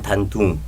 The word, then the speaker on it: 단둥: 우리 발음으로 단동인가요? 단동이고 중국식 발음은 단둥. 단둥.